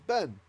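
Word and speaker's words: בֵּן: reduce so for example bane becomes ben so bane is a sun right and this is the lexical form of the word vein it's a long vowel you remember your chart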